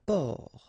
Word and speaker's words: port: Un port. Un port. Okay, exactly the same thing here. Only the last letter is different. You don't pronounce it, and then both of them are masculine.